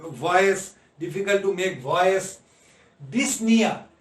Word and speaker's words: dyspnea: Dyspnea, here P and O should not be pronounced. The word is that the dyspnea.